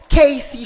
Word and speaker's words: KCY: représentante de la marque kcy shoes qui se prononce Casy shoes bonsoir madame la im